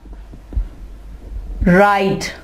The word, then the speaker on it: write: हमने इसको राइट नहीं कहा, हमने यहाँ पे W की आवाज नहीं निकालनी, राइट। ठीक है, अब अगर आप देखें तो इसमें एक और लेटर भी साइलेंट है, E। यहाँ पे E को नहीं पढ़ा जा रहा, राइट नहीं कहेंगे, राइट E नहीं कहेंगे, यहाँ पे हम कहेंगे राइट।